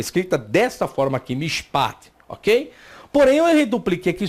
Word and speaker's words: mishpat: Agora, como ele não está sendo reduplicado, esse chevá ele é mudo. Então eu tenho a primeira sílaba aqui, a vogal ela é breve, o chevá é mudo e aqui inicia a nova sílaba.